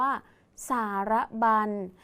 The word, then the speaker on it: สารบัญ: สุด ท้าย ดัง นั้น คำ นี้ อ่าน ว่า สารบัญ สังเกต คำ ว่า บัน นะ คะ มี ญ หญิง เป็น ตัว สะกด อยู่ ใน มาตรา ตัว สะกด แม่ กน นั่น เอง นะ คะ ต่อ